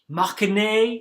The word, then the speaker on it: Mâconnais: And here you can see Chablis, Nuits, Mâconnais, you don't say the S, but you put the E at the end, Chalonnaise, and the S gets pronounced.